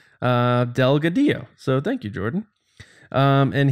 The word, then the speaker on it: Delgadillo: lot of times say Delgadillo yeah I said no it's the Double L Spanish Delgadillo so thank you Jordan